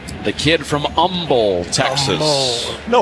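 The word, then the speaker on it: Humble: The kid from Umble, Texas. No hate. No H. They don't hate. No H. H is silent.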